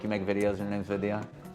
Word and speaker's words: Vidya: It's not a silent Y.